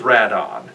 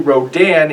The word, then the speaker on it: Radon: calling rodin red on well that's because rodan is rad on i'm not sure how people have forgotten this but in japan radon is the character's actual name they took the second and fourth syllables from pteranodon and squashed them together to make the name radon the reason it was